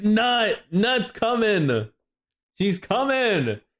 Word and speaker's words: Nut: THAT WE HAVE OH IT'S IT'S nut nut's coming she's coming it's already nut oh sheesh or n Just spell it.